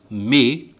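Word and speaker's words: mais: For example, in the French language, the word but, may, is spelled M-A-I-S.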